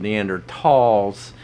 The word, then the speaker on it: Neanderthal: the question uh the Neanderthals or in per the proper pronunciation I was told neander talls have all died out